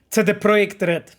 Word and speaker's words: CD Projekt Red: It's not CD Projekt Red, because it's a Centrum Dystrybucji Projekt Red. That's from where the name comes from, you know.